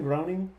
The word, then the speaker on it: Groening: Groening, that he has.